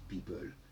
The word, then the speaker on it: people: Donc people, ça s'écrit EO, mais ça se prononce people.